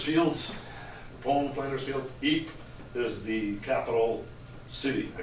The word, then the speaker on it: Ypres: That's pronounced Ypres, Y-P-R-E-S, Ypres.